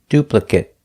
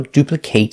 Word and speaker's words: duplicate: If it's not a verb, pronounce it it. If it is a verb, pronounce it ate. So duplicate is a verb.